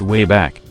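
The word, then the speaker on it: WABAC: traveling throughout history using the wok pronounced way back a time machine they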